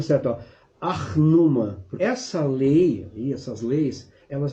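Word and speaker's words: Ur-Nammu: anos antes existiu a lei eu vou até pronúncia certa arnoma essa lei essas leis elas vem 200 anos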